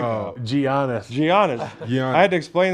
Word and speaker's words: Giannis: I'm like, it's a silent G.